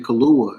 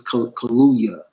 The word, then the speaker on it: Kaluuya: Yeah, because I had a pronunciation of it, but someone was like, "Y'all calling that man Kaluuya," and I was like, "Ain't that his name?" But obviously, it's Kaluuya.